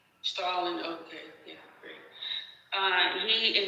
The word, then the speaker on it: Stalin: And Joseph Slain, who has served as Linen's general secretary, eventually takes over official role of the Soviet Union until his death in 1953 from Stalin. It's pronounced Stalin. Stalin.